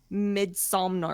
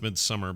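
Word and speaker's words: Midsommar: It's the same guy who did the Midsomnar or whatever. It's pronounced Midsummer, but it's the Sommer, however you spell it. I'm looking at it going, Somnar.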